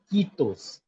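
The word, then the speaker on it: kiitos: It sounds e like c when you say c. How you stretch the E sound that becomes the Finnish E which is I. I in English E in Finnish.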